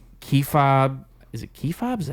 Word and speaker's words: kayfabe: Like kayfabe. Is it kayfabe? Is that how you pronounce it? Kayfabe? Kayfabe. Kayfabe. Yep.